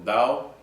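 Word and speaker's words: Tao: de toda estrategia existencial toda religión de todo dao aunque se escribe con t se pronuncia dado por cierto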